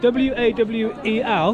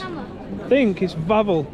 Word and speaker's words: Wawel: But it's spelled W-A-W-E-L. But I think it's Wawel.